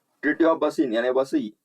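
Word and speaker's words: Vasai: Treaty of बसीन यानी बसई। बसई जो कि बसई भी बोलते हैं। उसका प्रोनाउंसिएशन बसई और वसई भी होता है।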